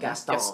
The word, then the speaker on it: Gaston: How do I pronounce Gaston. it? Gaston.